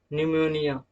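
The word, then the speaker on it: pneumonia: P is silent when a word begins with ps, pn, pt।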